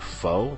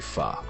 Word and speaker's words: pho: um again notice fah it's spelt p-h-o a lot of people pronounce it foe but it is actually pronounced um so yes for those who called foe it's technically pha it definitely heats you